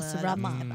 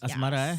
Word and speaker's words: asrama: Asrama. Asrama. Bukan asmara I was checking myself.